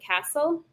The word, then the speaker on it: Cassel: And let's see, I also listen to a Scottish fiddler named Hanukkah Castle. Okay. Her last name is spelled like Cassell, but I'm pretty sure it's pronounced Castle. Sweet.